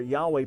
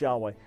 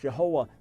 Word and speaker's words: Yahweh: and things like that we don't know for sure if his name is pronounced Yahweh I can tell you for sure it wasn't pronounced Jehovah but either way the